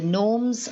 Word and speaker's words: gnomes: k is silent and in the norms the g is silent so they asking us